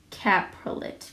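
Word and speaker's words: coprolite: Fossilized dinosaur poop is called caprolate. Caprolate is how you pronounce that.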